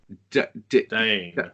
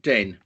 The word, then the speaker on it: Dehn: Dane. Dane. Right. So, there's my first question. Um, uh, Dane, not Den.